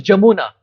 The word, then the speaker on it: Yamuna: is a b but you see in brindavan V becomes B brindavan brindavan so Bali Bali but different personalities Bengali pronunciation like yamuna becomes jamuna so Bali comes from